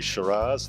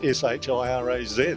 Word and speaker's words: Shiraz: And uh the French word has sort of metamorphosed to s y r ah and in Australia it's metaphors morphosed towards s h i r a z.